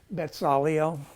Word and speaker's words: Bezalel: In Hebrew, it's like it's not a Z. It's a sadeh. You pronounce it like this. Like this right here is really this. So it's like Bezalel, okay? So it's like bar mitzvah, that's that same letter there.